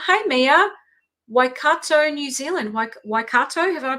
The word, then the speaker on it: Waikato: Waikato, have I pronounced that properly?